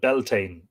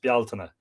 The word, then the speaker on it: Bealtaine: with the sources, because Bealtaine is not pronounced Beltane in any language. Bealtaine is an Irish word, and that's how it's pronounced, Bealtaine, not Beltane, and Samhain I've heard being called Samhain.